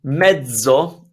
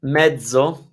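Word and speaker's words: mezzo: one so it's it's it's a different Sound Pizza like hence and medso medso like EDS so in Italian you have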